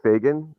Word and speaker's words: Fagan: on today yeah totally how do you pronounce your last name uh it's fagin f-a-d-a-n so just like it's spelled i just wanted to